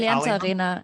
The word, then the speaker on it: Allianz Arena: Allianz Arena. And am I pronouncing that correct? Right? Allianz Arena, yeah.